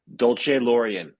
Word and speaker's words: Dolcelorian: Let me get this pronunciation correct. Dolce Laurian.